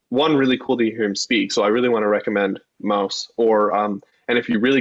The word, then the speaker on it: Maus: like to Central Michigan students about his work, Maus, M-A-U-S is how you pronounce it, which is like a comic book